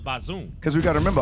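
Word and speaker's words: Bazoum: for brothers like this we got to give them the people the right pronunciation please right read it again come on yes sir soldiers and claim to have overthrown president Muhammad bazoom because we've got to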